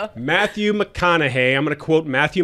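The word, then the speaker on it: McConaughey: Matthew McConna. Thank you. Crime here for you. Matthew McConna.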